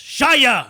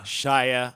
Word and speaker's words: Shia: whatever and you know you wanna say Shia it's shyah shyah I say Shia i